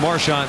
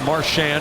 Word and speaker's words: Marchand: Chara has Marchand straight ahead. Marchand, excuse me. That is how he wants it pronounced.